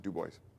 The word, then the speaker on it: Dubois: In the local weekly paper of Dubois, Wyoming, it's spelled Dubois, but they pronounce it Dubois in Wyoming, was a letter to the editor in detail about universal service reform.